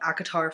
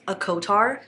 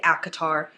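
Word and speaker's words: ACOTAR: even been talking about acatar for a majority of that time I used to pronounce this a cotar it really just made sense to me because it's a court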